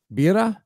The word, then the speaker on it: birra: Birra? Birra. Birra. You got to roll the R's. Yeah. Two R's. It's birra.